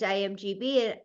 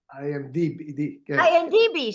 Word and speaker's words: IMDb: um I just started I looked at gian's imgb or did I say it right well well audiences are not as intellectual intellectual as you can you let our audience know what imgb means I am d i DB sorry I knew I